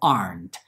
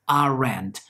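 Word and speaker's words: aren't: y are not a arndt cuidado con la pronunciación porque no es arendt no son dos sílabas sólo una parte hayan se halla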